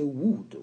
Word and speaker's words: would: Donc, vous prononcez would. Vous ne prononcez pas le L.